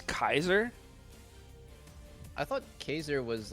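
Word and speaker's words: Caesar: this yeah wait how how do you say it uh geyser now that is after julius yeah i thought it was caser it's kaiser i thought caser was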